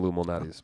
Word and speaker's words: Lou Malnati's: say Mao Nadi's what'd he say I'm going Lou Malnati's man I said Lou Malnati's what do you